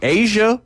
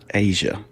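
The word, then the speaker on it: A'ja: Number all the 90, Asia Wilson. What does she do? Asia. I like the name. Yeah. It's not spelled like the continent, though.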